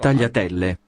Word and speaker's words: tagliatelle: Tagliatelle, tagliatelle. No, it's tagliatelle. So you don't even pronounce the G.